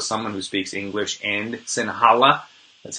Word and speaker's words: Sinhala: we're going with someone who speaks English and Sinhala.